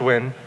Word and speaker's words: Nguyen: It's pronounced win.